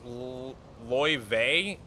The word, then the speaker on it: Laie: Laie is pronounced Ly.